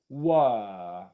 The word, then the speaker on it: were: Well, I'm going into the E position right away, where, compared to were, were, were, were.